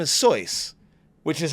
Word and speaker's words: Seuss: important was when he pulled out a Dr Seuss book and he was like oh yeah but he's German so his name is soy which is how it's actually pronounced it's pronounced